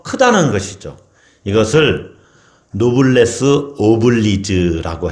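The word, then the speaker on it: noblesse oblige: 이것을 노블레스 오블리즈라고 해요. 어려운 말이지만 원어라서 그래요. 노블레스 오블레즈라고 하기도 하고 스펠링이 우리나라 말로 이렇게 바꾸면은 조금 말이 달라지죠. 어쨌든 노블레스 오블리즈 또는 오블리주 이렇게 번역도 그 말을 하기도 하는데 노블레스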